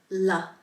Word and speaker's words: ല: to start with the LA La this is very similar to the English la it's a very common l sound and it is pronounced La your tongue is there behind your teeth la la let's pronounce